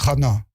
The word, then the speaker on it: Hana: bon on est chass c'est pas Shana c'est Hana oui d'accord j'ai demandé ça c'est la mère de Samuel alors mais les filles ça s'écrit Shana dis shana c'est une année on on est il y a Il y a pas de prénom Shana en hébreu. C'est Hana.